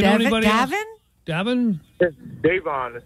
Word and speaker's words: Davon: Davon is how you pronounce it.